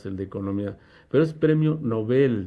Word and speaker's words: Nobel: economía pero es premio nobel noveles palabra aguda no es palabra grave aunque le pongan su tilde no vale porque originalmente en sueco esa palabra se maneja como aguda por favor tenga